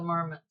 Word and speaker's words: Marmot: if you can't tell i heard somebody say the t is silent on this brand but i don't think it is marmot i think it's still marmot isn't there an animal